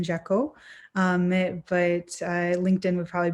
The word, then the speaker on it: Jacquot: my name here um it has silent letters so it's jekyll um but linkedin would